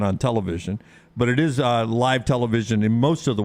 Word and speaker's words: LIV: Is that how you say it, Brown? LIV? The LIV tournament? Yeah.